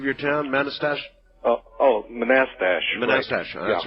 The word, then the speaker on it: Manassas: the stuff that's like hey wait a minute pronounce the name of your town Manchester oh oh Manassas that's right thank you uh and uh actually